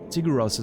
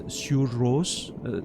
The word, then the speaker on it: Sigur Rós: I think the proper pronunciation is Sigur Rós, if I'm not mistaken. So if there's any Icelandic people listening to me right now, I'm sorry about the pronunciation, but Sigur Rós, right?